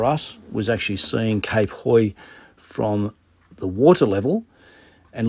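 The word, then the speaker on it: Hauy: the Highlight for us was actually seeing Cape Hoy from the water level and looking up to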